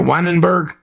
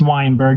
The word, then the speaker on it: Weinberg: with one bird okay it's not quite is it the n in there weinenberg it's Weinberg just like why and bird exactly easy